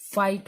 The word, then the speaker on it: fight: का नहीं हो रहा, तो दो वर्ड भी साइलेंट हो सकते हैं। ठीक है, हाई के बाद आपका फाइट हो गया, FIGHT, फाइट।